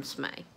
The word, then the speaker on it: Smay: It's the same as Slay, except there's an M instead of an L.